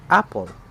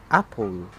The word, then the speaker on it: apple: certain part for example in the word apple we're putting a stress in the up part that is why we pronounce it apple not apple in poetry a unit